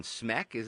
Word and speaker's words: Smek: So you've got a movie out right now called Home, and you voiced the character of Captain Smek. Am I pronouncing that right?